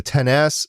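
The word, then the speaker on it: XS: announced the iPhone 10s and that's how it's pronounced 10s it's excess but 10s the iPhone 10s Mac's the iPhone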